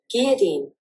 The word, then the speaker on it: guillotine: Okay, it's not gully. That's guillotine. Okay, guillotine. Guillotine. Guillotine. Right? So it's a guillotine. So in American Guillotine. Guillotine. Okay, it's not G-I. Okay, U is silent.